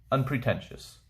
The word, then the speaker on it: unpretentious: this is quarrelsome unpretentious the way you pronounce it un pre can just unpretentious not attempting to impress